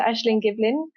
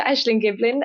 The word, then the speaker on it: Ashling Giblin: it's uh did I say her name Dr ashleen Giblin oh Dr ashin Giblin uh she's based at UCL um and she